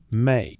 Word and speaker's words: ME: The word is M-E, pronounced may, not a verb, not a pronoun, a noun, a thing.